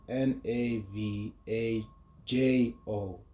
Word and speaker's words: Navajo: Despite being Caucasian, Johnston had been raised under Navajo, which is spelled his as N A V A J O, but it's pronounced as Navajo.